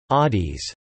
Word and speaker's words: ades: They greet each other with aids pronounced adis.